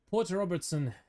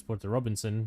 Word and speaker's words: Porter Robinson: Porter Robertson is the only person who understands us right now. Even though his name is Porter Robinson, and I just mispronounced it.